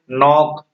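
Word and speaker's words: knock: इसी तरह से नॉक, यानी के एन है, तो के एन जब भी रहेगा तो एन के पहले के हमेशा वो क्या रहेगा, साइलेंट रहेगा, नॉक हो गया।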